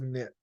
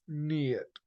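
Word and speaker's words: Neith: there's the brilliant Festival of the lights of nit a celebration honoring this great CTIC goddess whose name is pronounced NE so I've been saying it wrong my bad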